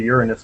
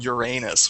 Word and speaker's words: Uranus: You notice I pronounce it Uranus, which of course isn't very close to. It isn't very close to the Greek pronunciation either, but it's closer than Uranus, which is the way people tend to insist on pronouncing it.